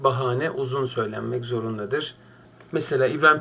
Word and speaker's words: bahane: halde bahane sözcüğü Türkçe Ben bunu okurken arkadaşlar ayı kısa söylemektedir Aslında telaffuz diksiyon hatası dır avuç su olsun beni avutabilir seneler onlar şarkısı var Sagopa kajmer'i orada çok da güzel bir şey ama bahane ifadesi bu şarkıda olduğu gibi yanlıştır bahane uzun söylenmek zorundadır